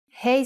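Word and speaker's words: ה: hebrew letter is hey hey sound is ha but it can also sound like a you will see how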